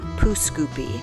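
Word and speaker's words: Pouce Coupe: you would be wrong most pronounce it as poo scoopy the town was originally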